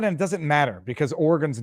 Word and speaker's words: Oregon: about or oron Oregon I know how to pronounce it now Oregon state crash 105 hey